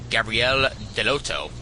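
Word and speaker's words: Gabriele Dell'Otto: Writer Keith Gifin and artist Andrea Devito along with Gabrielle Deloto, that's how you pronounce it, providing jaw-dropping covers are ready to rock Marvel space to its core with this cosmic epic.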